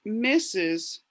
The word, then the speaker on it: Mrs: sir okay and then the mrs is for the married woman that takes her husband's name so that's pronounced misses it means mistress and